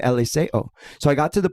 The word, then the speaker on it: Eliseo: My joke is my name is Eliseo, But since we're in white Boise and none of you all can It's pronounce Eliseo.